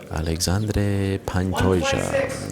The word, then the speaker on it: Alexandre Pantoja: Alexandre Pantoja steps onto the scale. Thank you very much to my colleague Guilherme Cruz for that pronunciation. Alexandre Pantoja.